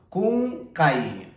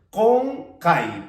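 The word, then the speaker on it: qunqay: Bueno, si tú escribirías esta palabra, por ejemplo, con la K, pues sonaría como kunkai, kunkai, kunkai, pero la pronunciación correcta es konkai, por lo tanto, tienes que escribir con la Q.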